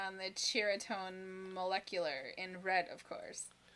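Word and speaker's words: Ceriatone: Is it Cheritone? Like a cherry. Cheritone. Yeah, it's Cheritone. Yeah. And I was like, oh, don't I feel stupid? Yeah. Here I am all like, Seriatone.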